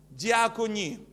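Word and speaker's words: διακονία: слово запи запите служение греческое слово читается так дикони как дьякон дикони от этого слова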